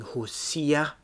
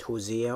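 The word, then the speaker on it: Hoshea: see there is a king hussia not hosea or shia i think is how it's pronounced and again he does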